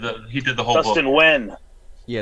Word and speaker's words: Nguyen: Nguyen, some of them are Wens. He did Little Gotham, right? None of them are Nagayans. No, not a single one of them are Nagayans. It's spelt Nagayan, but it's pronounced Wen.